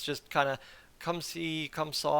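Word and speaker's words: comme ci, comme ça: it's just kind of Come See Come Saw I think is how it's said in French so so it just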